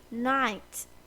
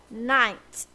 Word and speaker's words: knight: we are looking at knight k-n-i-g-h-t knight not connect it's night the k is silent we still say it as knight but the meaning is